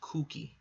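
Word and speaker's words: Kuki: COO cookie or Betty not cookie it's just pronounced kooky who knows you have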